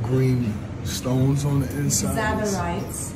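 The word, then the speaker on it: tsavorite: Zabarites. Zabarites. Zabarites. Yeah, you spell it T-S. T-S-A-V-O-R-I.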